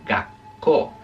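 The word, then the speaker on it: がっこう: El tsu se usa para hacer lo que llamamos la doble consonante, o sea, hacer el sonido, por ejemplo, colegio. ¿Alguien sabe cómo se dice colegio en japonés? Colegio en japonés se dice gakko, gakko.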